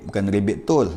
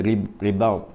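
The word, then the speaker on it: رباط: Ribab ni ejaan dia ra ba alif ta, ta, iaitu ribab. Bukan ribit tol, dia ribab, ribab.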